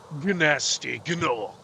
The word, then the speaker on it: Gnasty Gnorc: So, uh, we can be done with Dreamw Weavers and move on to the worlds of Nasty Norc. Gnasty Ganor as they are actually pronounced.